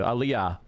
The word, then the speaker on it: Aliyah: So he can't do Aliyah, or however you say it. Aliyah, yeah, Aliyah, thank you. Aliyah. I can never pronounce that shit.